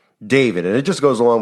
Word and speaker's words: D4VD: D4VD is how he spells his name, but it's pronounced David.